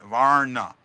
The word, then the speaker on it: Vrana: I haven't wow um that's how I'm saying it right there VAR on Varna right two syllables that's what it sounds